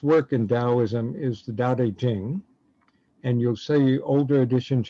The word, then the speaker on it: Dao De Jing: the most famous work in taoism is the daodejing and you'll see older editions you'll see spelled like you have it at the top on